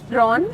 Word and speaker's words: ร้อน: ร้อน Drawn?